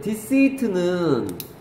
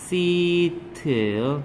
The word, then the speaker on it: deceit: deceit는 뜻이 같아요. 같은 거야. 얘하고 얘는 뜻이 같은 거야. 발음은 써 발음. deceit예요. deceit예요.